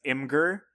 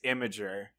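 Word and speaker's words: Imgur: also that masking up because I've always been pronouncing it as M ger apparently its imager so I think it's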